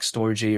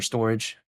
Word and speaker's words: Storj: let's say, something like Storj or Storage, whatever the name is, because sometimes people like to say Storj or Storage, but it's spelled like STORJ.